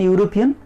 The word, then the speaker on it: European: In European there is a vowel letter E-E-U-R-O-P-A-N, European. So what is used there? O is used there. Why do we use O there? Because although it has vowel letter, its pronunciation is consonant sound.